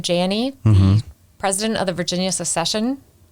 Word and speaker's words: Janney: were talking beforehand it's janie it's a long a yes it's janie but most people would